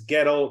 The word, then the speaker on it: Guettel: As he initially told me when I met him, it's Guettel rhymes with shtetl.